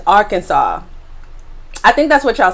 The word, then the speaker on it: Arkansas: the way i said our kansas i did not realize that the pronunciation is arkansas i think that's what